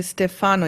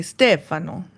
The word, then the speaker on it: Stefano: Because he's Italian, you don't say Stefano, you say Stefano. Right? Isn't that the The annunciation on the first syllable.